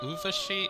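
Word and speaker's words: Urvashi: And yeah, that's actually how my parents pronounce it. And interesting enough too, they ascribe... okay, so basically Uvashi is a Apsaras.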